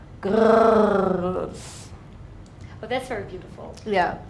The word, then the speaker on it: Grrrls: if you're loud and angry, and And That's grrrls. Girls. Yeah. Okay, thank you very much. Is it okay for you that I pronounce it like Girrls Kollektiv, or is it not?